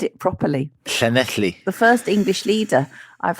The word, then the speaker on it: Llanelli: But yes, Nigel, now let's say what you like about Nigel, but he can pronounce Llanelli. He said it properly. Llanelli.